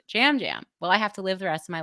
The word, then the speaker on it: Yam Yam: I think he is Puerto Rican, and obviously people speak Spanish there, and while we use the same alphabet, they have some bonus letters though.